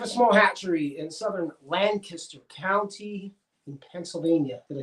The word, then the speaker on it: Lancaster: If you're new here, we have a small hatchery in southern Lancaster County in Pennsylvania. Did I say it right? No. Lancaster.